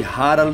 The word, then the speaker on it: Harald: haroldo filho de segurado que no idioma norueguês pronuncia-se rara seguro só ele nasceu